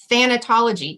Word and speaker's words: Thanatology: And so I know you have a master's degree in Thanatology. Am I even saying that right? Is that the right way to say it? Yes, you are. You got it exactly right.